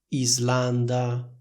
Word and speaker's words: Islanda: regola scritta per cui la s seguita da l si pronuncia Z per esempio in italiano diciamo Slovacchia Slovenia Islanda Oslo lingue slave come vedete in tutte queste parole c'è la combinazione s + l che viene pronunciata con una s sonora simile a quella delle parole rosa e riso Comunque sia lo stesso